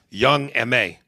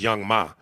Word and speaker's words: Young M.A: Young M.A. And for a long time, I thought her name was Young Ma. But I think it's pronounced Young M.A.